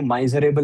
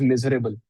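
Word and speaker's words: miserable: Another way of saying माइजर इज, अब उसको माइजरेबल नहीं बोलते, it's wrong pronunciation, it इज मिजरेबल.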